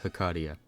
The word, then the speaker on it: Hecatia: It might be best to check out before Hesacia is anyways since they go hand in hand. Also, I'm aware the pronunciation of her name is more like Hakadia.